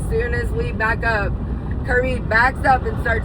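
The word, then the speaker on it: Cyrby: sleep, and I drove us to our actually Kirby, which is spelled C-Y-R-B-Y, which is our Cybertruck, drove us to the most perfect camping spot out in the middle of Tennessee.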